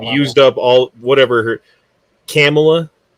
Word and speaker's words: Kamala: They want Camilla. They want Camilla in there because I think they've used up all, whatever her... Kamala? Come on. How do you say it? Kamala.